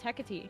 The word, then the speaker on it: Hecate: Then we got Hecate, which Madison, you don't know. I thought it was a cat. No, it's Hecate.